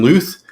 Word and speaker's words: Luth: week uh we have nathan luth rhymes with truth and uh louis torres